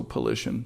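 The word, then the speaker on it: Pylyshyn: And this was the initial um contribution by uh Zen and Polician and that's his name polition all those wise are pronounced as short I so polition that'll work fine and um the mental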